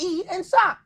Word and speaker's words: Esaac: You meet somebody, I got 2 syllables. I say, hey, how you doing? My name is Esaac. It's yes, sir. What the hell was hard about E and Sock?